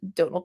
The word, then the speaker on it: Donal: by the name of Donal uh which is also the exact same name as Donald Gleason um if you want to know spelled Donal like tonal which is the same